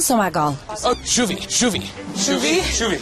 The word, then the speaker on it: skulle vi: Oh, shuvi. I remembered that there's a lot of Norwegian words that have the SK and it's a sh sound instead of a sk sound. Kanskje uten havet viort shuvi bært båten?